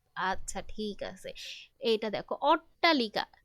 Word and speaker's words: অট্টালিকা: আচ্ছা, ঠিক আছে, এইটা দেখো অট্টালিকা, এখানে উচ্চারণটা করো অট্টা, কোনো ঠ কিন্তু বুঝতেছি না। হ্যাঁ, আমরা কিন্তু শুধু টয় বুঝতেছি।